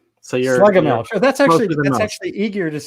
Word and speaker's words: Schlegelmilch: How do you pronounce it best? Schlegelmilch. So you're Schlegelmilch.